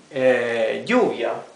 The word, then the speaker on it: lluvia: Lluvia, for rain, lluvia, is written with double L. It would be pronounced exactly the same if it were written with Y, but this would be wrong.